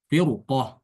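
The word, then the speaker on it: فرقة: Firqoh juga dibaca tebal.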